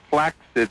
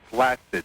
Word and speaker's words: flaccid: I must be touched listening this long, and just to tell you that it's flaccid, not flaccid.